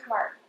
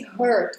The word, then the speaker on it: heart: You open up your heart. That's it. Let's listen to him. You open up your heart. I've heard people say hurt for this one. Hurt means something else, and it's not spelled like this.